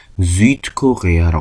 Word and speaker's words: Südkorea: 여기서는 Süd라는 단어하고 Korea라는 단어가 합쳐진 거기 때문에 앞에 있는 Süd는 그대로 발음을 해줍니다. 그래서 Südkorea라고 합니다.